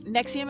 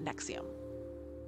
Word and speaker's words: NXIVM: heavily featured in this story um and like nexium is how you pronounce it but because they're pretentious ass hats it's spelled like it looks like it's roman numerals and it's n-x-i-v-m but it's pronounced nexium yeah there's a reason oh yeah um okay